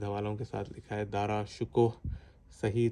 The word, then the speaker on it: دارا شکوہ: میں نے دارا شکوہ لکھا تھا اور انہوں نے مستند حوالوں کے ساتھ لکھا ہے دارا شکوہ. صحیح تلفظ ہے.